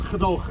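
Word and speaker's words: gedogen: It's spelt Gedaugen, pronounced Gedaugen, especially in the north where we have a hard.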